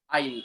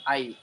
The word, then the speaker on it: aisle: Aisle. Aisle. S is silent there.